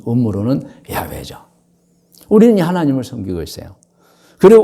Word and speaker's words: 야훼: 나는 여호와 너의 하나님이니라 야외 히브리시고 본 음으로는 야훼죠 우리는 하나님을 섬기고 있어요 그리고 우리에게는 경전으로 받은